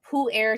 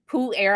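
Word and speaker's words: Pu-erh: decrease some of those um senescent memory cells pool air tea i kind of think of this as a type of tea that's aged like fine wine poo air i'll spell it p u dash e r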